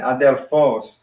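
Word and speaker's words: ἀδελφός: Kai, Adelphos. Adelphos. Kai, make sure you put the accent at the end. Adelphos.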